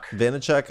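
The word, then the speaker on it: Vaynerchuk: gary how do you say his last name weiner weiner chuck he is uh vanachuk i i definitely have watched much of his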